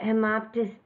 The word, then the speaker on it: hemoptysis: So we talked about hemoptysis. I'm going to spell it H-E-M-O-P-T-Y-S-I-S, hemoptysis.